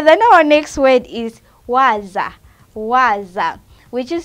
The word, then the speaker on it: waza: Okay, then our next word is waza. Waza, which is spelled as W-A-Z-A.